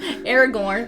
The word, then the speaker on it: Aragorn: cuz we might chn Aragorn remind y rhymes with ear of corn easy for me to